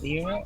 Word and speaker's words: Lyra: the northern constellation of Lyra or Lyra. Lyra? Am I pronouncing it? Yeah, Vera. And I was just no, it's Lyra.